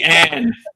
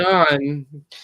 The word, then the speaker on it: Leon: And if I remember correctly, Leon, Leon, you've always Leanne. Lee. English is hard for fucking Shorty over here. I said Leanne. I said it wrong there. Leon.